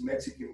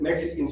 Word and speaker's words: Mexica: The word that Mexicans used for ourselves was Mexica. The X is pronounced with a sh sound. So when you see the X in Mexican, it's Mexican or Mexica.